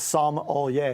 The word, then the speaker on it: sommelier: It's sommelier is like the correct pronunciation of it.